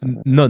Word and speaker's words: Non: Renanonen, qui est plus connue sous son nom De Non. d'artiste, Non. Non. N-O-N. Bon, non, N-O-N, oui. mais ça se prononce non.